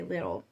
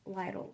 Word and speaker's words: Lidl: um paid or I know today I paid Lidl loans that's how you pronounce it I always say little but it's little loans still need to pay